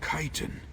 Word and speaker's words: chitin: A blade made of chitin. Chitin, that's how you pronounce that.